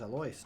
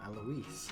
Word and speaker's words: Alois: That's not how I would have pronounced that name. I thought it was Alois, not Eloise.